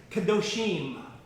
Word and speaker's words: Kadoshim: I'll pronounce it for you. Kadoshim. Kadosh is the Hebrew word meaning holy. And so Kadoshim are the holy ones.